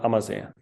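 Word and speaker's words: Ammersee: take a look at Lake amaz it's called amaz how do I spell that am amm e r s e e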